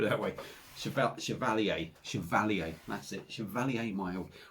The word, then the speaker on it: Chevalier: that's kind of their chevrolet chevrolet chevrolet chevrolet cavalier chevrolet i can't remember you can't even remember how to say the bloody thing that's kind of they're mild anyway put it that way chevelle chevalier chevalier that's it valley a mile we got there